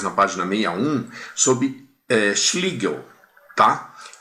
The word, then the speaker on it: Schlegel: Agora a gente vai falar, vocês podem conferir de conferir depois na página 61 sobre eh Schligel, tá? Se escreve esclel, mas em alemão é schlig, gente.